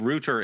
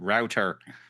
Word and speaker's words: router: The correct pronunciation of rooter in English is the object of dispute between rooter and router. Between British and American English, there is no general difference in the pronunc pronunciation of router and both are considered acceptable pronunciations.